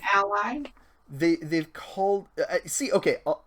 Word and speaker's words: Allay: do you say that an alley or an ollie C get it you're an ally the the cold see